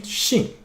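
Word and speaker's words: 兴: okay next one so this one has another pronunciation Xing and that means excitement interest okay uh for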